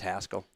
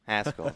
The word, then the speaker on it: Haskell: You know that there's Yeah, you guys are trying to make it too fancy. It's just Haskell. Haskell.